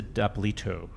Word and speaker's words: D'Apolito: And then the director of a new documentary called Love Gilda, D'Apolito. Did I pronounce that correctly?